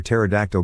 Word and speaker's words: pterodactyl: camping it's intense why can you never hear pterodactyl go to toilet because the p is silent i told my wife